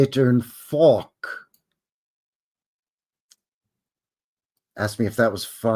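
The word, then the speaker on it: phoque: And yes, the French word for seal is faulk. That's pronounced faulk. Say it. Faulk.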